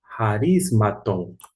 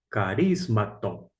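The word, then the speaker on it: χαρισμάτων: Dons aqui está nesta forma: harismaton, ou se você quiser pronunciar, carismaton, carismaton, harismaton, porque E fazendo aqui a sonorização, aqui se encontra a sílaba tônica.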